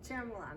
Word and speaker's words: Ciaramellano: Ciaramellano.